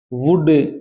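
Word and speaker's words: would: तीन अर्थ होते हैं शुड वुड कुड इनमें एल साइलेंट है ये टॉक मैंने बताया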